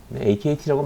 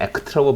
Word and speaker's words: Akt: 그래서 프로테인 카이네이즈 B 또는 AKT 시그널링이라고 하는데, AKT라고 많이 해요. 어제 얘기했듯이 뭐 ACT라고 발음하는 사람들이 있는데 ACT 발음이 하기 불편하죠. 그래서 그렇게는 안 불러요, 되게.